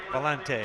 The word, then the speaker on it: Valentine: young man John Valentine he pronounced that John valante John valante and Mike Patterson opposing